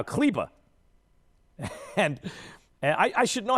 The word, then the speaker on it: Kleber: Maxi Kleber is somehow Kleba.